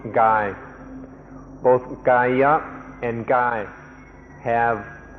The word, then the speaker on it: กาย: The original word the Buddha used was Gaya, and this word also occurs in Thai and is pronounced Gai.